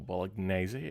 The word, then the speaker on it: Bolognese: Uh Bolognese. Yes. Or Bolognese as apparently it's meant to be pronounced.